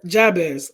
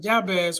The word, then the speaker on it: Jabez: and we're talking about um the story of Jabez I think that's how you pronounce it some people pronounce it yeah this but I pronounce it as job as I do pronounce the J um and the story